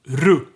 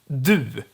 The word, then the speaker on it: du: So the word is du with a long u, but in this case it should be unstressed for this to work, so I'm pronouncing it ru, u.